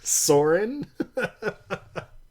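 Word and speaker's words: Soarin: not dumb it's glorious it's spelled s o a r i n saurin so great I hate it so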